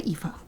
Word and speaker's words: Aoife: It's an Irish name, so it's very hard to spell. Aw, thank you. Aoife Exie says get well soon.